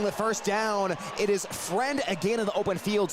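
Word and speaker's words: Freund: Joe Friend, spelled F R E U N D, but pronounced friend uh has been very unfriendly.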